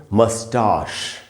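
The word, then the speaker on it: moustache: मूछे जो होती है इसको ब्रिटिश इंग्लिश में पढ़ेंगे मस्टाश मस्टाश अमेरिकन इंग्लिश में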